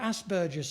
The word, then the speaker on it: Asperger: I remember after the fifth person who talked about Asperger's syndrome in some conference, she said, Asperger, it rhymes with hamburger, she would say.